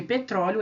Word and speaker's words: petróleo: tampouco oxítona verdade porque porque petróleo é uma paroxítona né o a sílaba tônica é o pro petróleo é uma paroxítona